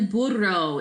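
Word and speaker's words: burro: vaca vodka for cow le Boudreaux is your donkey now remember two R's are rolled right so if you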